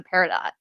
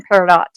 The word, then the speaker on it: peridot: my gosh yes dear you do pronounce the t in peridot justin have you been